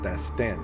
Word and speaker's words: Dhastan: Dhastan, right? Yeah. Emphasis on the last N.